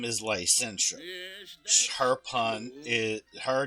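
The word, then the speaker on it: Lycentia: Um, if you were to say her name fast, it would have it would have you pronounce it as I sent you.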